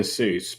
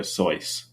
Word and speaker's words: Seuss: I never have um you shouldn't say Dr Seuss Because the actual pronunciation is Dr soyce or something like that so it's a fact